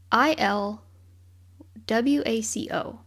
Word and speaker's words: Ilwaco: okay I'm gonna say Ilwaco because it's kind of I don't think it's like Waco I think it's maybe it is Waco the okay it's i l w a c o but then in the